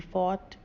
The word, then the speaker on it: fort: आप देखेंगे कि इनमें से किसी में भी आर का उच्चारण नहीं हो रहा है। BARK बाक, HERD हर्ड, DIRT डट, BIRTH birth, FORT फॉट, NORTH नॉर्थ, FURL फर्ल, DEARTH dearth, PEARL Perl.